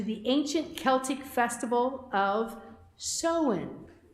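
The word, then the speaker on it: Samhain: ancient Celtic Festival of soen it reads as Sam Hein but it's pronounced sohen the Celts who lived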